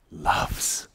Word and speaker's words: LUFS: talking about and in in the English language it's very nice because you can pronounce it loves you know and we